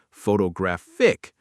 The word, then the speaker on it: photographic: Photograph, stress on the first. Photography, stress on the second. Photographic, stress on the third.